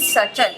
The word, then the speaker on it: subtle: इसके बाद SUBTLE सटल, इसमें B साइलेंट होता है, यानी B और D जब साथ में आ रहा होता है तो मोस्टली उसमें B साइलेंट होता है।